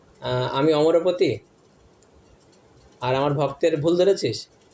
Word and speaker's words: অমরপতি: লাইনে রমাশম্ভু ব্রহ্মা মরপতি একচুি শব্দটা উচ্চারণটা হচ্ছে অমরপতি ব্রহ্মা অমরপতি অমরপতি মানে হচ্ছে ইন্দ্রদেব অমরপতি মানে স্বর্গের যে রাজা তাকে বলা হয় অমরপতি ইন্দ্রদেব ঠিক আছে এখন এখানে হচছে মরবত এক ভক্ত ব্রাহ্মণ ভক্ত শাস্ত্রের পন্ডিত সমসিত পন্ডিত সে এসে একদিন বলছে যে এক ভক্তকে জগন্নাথের ভক্তকে তুমি এটা কি বললে মরপতি বললে এটা উচ্চারণ হচ্ছে অমরপতি পরের দিন ওইদিন রাত্রেবেলায়